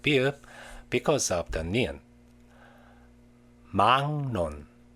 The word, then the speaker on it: 막론: 막론, 막론.